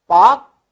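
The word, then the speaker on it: Palk: पाक स्ट्रेट, इसमें L silent होता है, पाक पढ़ा जाता है, पाक. तो एल साइलेंट है, पालख नहीं पढ़ा जाएगा, पाक.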